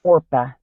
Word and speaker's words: Orpah: how you know her or if his relatives wouldn't pronounce her name correctly so she became Oprah I hear it still